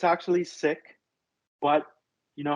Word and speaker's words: Sikh: that's embarrassing they're pronouncing the original name wrong so we're going to call it zeke as well the preferred way is sick it's just been westernized so it actually means a lot to us if you say it the original way which is sick uh thank you